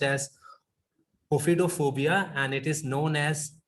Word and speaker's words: ophidiophobia: And the next, as Ritu ma'am rightly said, claustrophobia, and this is Ophidiophobia. I searched about the right pronunciation and I was getting different kind of pronunciations everywhere, but it is pronounced as ophidophobia and it is known as fear of snakes.